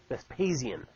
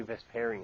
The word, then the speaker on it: Vespasian: I always mispronounce his name. Vespasian. Thank you. I was going to say Vesparian. It's not right.